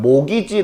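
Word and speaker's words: mortgage: he 라고 써있는거 보이세요 그게 이것을 그대로 읽으면 t 자가 묵음 이야 그래서 이걸 뭐라고 있냐면 모기지 라고 읽어 오호 이거 어디서 염소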